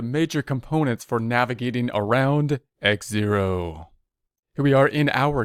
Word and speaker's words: Xero: great guitars file for x0 and by the way you might just call it zero here I typically call it x0 helps me to spell it so I'll probably be